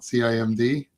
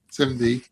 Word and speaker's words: CIMD: document, uh which is popularly pronounced Simdy now, not CIMD, Simdy.